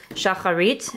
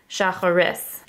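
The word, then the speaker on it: שחרית: they pronounce it as shacharis so they put the taf as an s here they call it instead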